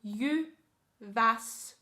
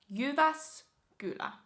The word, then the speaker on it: Jyväskylä: If you would like to pronounce it in a more Finnish way, you would pronounce it Jyväskylä. Jyväskylä. Jyväskylä.